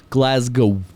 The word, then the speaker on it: Glasgow: glasg go oh but they want you to say it like glasgo oh oh yeah you